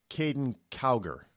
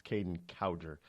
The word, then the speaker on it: Kaden Cowger: by the name of Kaden cower now I had been PR mispronouncing his name for for years it's Kaden cowger he started out now